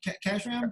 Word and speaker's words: Khashram: Am I saying it right? Khashram? Exactly, yes.